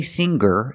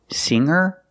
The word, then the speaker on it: singer: like singer and hanger in both of these words the G is not pronounced with a hard G sound we don't say singer and we don't say hanger we say singer and hanger but if you look at these two words longer and younger we do pronounce the G sound longer and younger he's